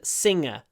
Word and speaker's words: singer: at L sin and singer sin tip of the tongue goes up sin s sing sing the tip of the tongue goes down s singer s singer s singer